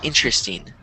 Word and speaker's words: interesting: but most people say interesting. And it's kind of like the R and the E are switched.